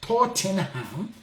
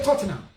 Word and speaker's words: Tottenham: Because in this country, nobody says Tottenham. They're going to say Tottenham. It's silent. They don't pronounce the H.